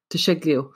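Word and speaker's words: Di Ceglie: you were treated by Dominico de shegli am I pronouncing that right to shiglio yeah and he founded the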